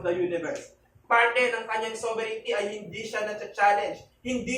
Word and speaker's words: sovereignty: Hindi siya sovereignty. Walang I dyan. It's sovereignty. Sovereignty.